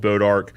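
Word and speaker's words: bois d'arc: town just probably 20 minutes from here called bodark but it's spelled like b-o-i-s apostrophe d e space Arc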